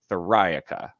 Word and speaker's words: Theriaca: friday said it perfectly it's like metallica where you emphasize that second syllable thorica and so that'll help